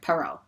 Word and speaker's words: Perrault: bubbles peru as buttercup i had to look up how to pronounce her last name and that's how perrault perot sorry perot that's how they pronounced it um i'm excited for